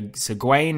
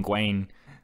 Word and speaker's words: Gawain: But this movie said Gawain, and I didn't like that. Gawain, with the way it's spelt, doesn't seem right. I prefer Gawain.